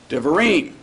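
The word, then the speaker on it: devarim: When we add the syllable of the plural, the accent moves over, and we have a 3-syllable word with the accent on the end. Divarim.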